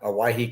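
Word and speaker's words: Owyhee: I grew up on the Idaho side in Aahe County. Uh, they call it Aahe County because it's spelled O WY E because that's that's what that's how they thought you spelled Hawaii.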